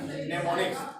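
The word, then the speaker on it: mnemonics: Am silent रहता है, नेमोनिक्स।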